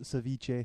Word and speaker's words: ceviche: It's pronounced ceviche.